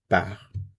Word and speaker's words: part: Il, elle, on part. Again, notice the pronunciation of the first three. Part, part, part.